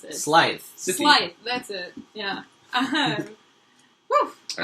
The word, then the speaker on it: Scythe: I can't pronounce it. Scythe. Scythe, that's it.